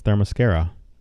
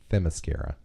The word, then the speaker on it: Themyscira: The pronunciation is going to be the only thing that... Not from me. It's Themyscira. Oh. Themyscira? Themyscira.